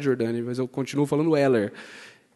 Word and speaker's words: Heller: Nós temos aqui o André Haller, né, que é a pronúncia correta, eu aprendi isso, mas eu não falo isso. Eu só fiz uma graça, na verdade, Jordani, mas eu continuo falando Heller.